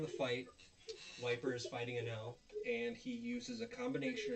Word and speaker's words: Enel: Enel. Um, Yeah. As long as you don't accidentally say put an A instead of E. Oh, that's true. Enel.